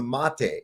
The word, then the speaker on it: mate: And the How do you correctly pronounce it, Matt? Mate.